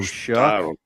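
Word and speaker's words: Shough: How do you pronounce that guy's name? Oh, Shuck.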